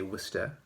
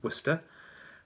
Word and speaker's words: Worcester: of worcesta massachusetts i always wanted to say wista looks like worcestershire but it's uh wista um you can't pronounce the r either right so the name